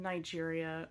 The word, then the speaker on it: Niger: nigeria is pronounced niger because it was a french colony and so it has a more french sounding name the specific area of